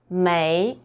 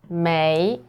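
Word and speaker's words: 没: attention to this one may so it's pronounced as may we can translate it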